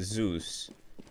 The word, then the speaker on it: Zeus: So that's how you pronounce it. Zeus. Greek, exactly. Not Roman, Greek.